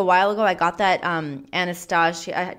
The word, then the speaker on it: Anastasia: I got that Anastasia. Did you say Anastasia or Anastasia? Whatever the fuck. Anastasia is how I'm gonna say it because that's how it's spelled.